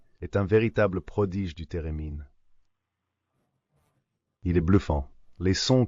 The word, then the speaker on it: thérémine: Avec le Divine Ensemble, un grand ensemble de musique classique, qui met à l'honneur le thérémine. Si vous ne connaissez pas le thérémine, allez voir ce que c'est. Ça s'écrit theremin.